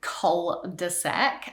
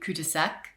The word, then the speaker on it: cul-de-sac: term itself, but it's our pronunciation of it as well, cul-de-sac. So firstly, cul-de-sac, I mean, in French that would be cul-de-sac, which literally means ass of the bag.